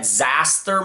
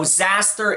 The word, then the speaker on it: Xasthur: I've seen it pronounced both ways. I've always said Xasthur myself, so that's how I'm going to pronounce it in this video.